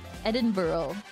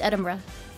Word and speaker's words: Edinburgh: favorite one is it's Eden Edinburough no it's it's Edinburgh because we don't spell things right your favorite way to say it no it's it's it's it's literally edin Ed Edinburgh edinb edinb BR I'm